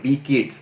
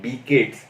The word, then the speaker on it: B-CIDS: skills, and on top you see something called B-CIDS. That's how it gets pronunciated, because we're calling it B-CIDS.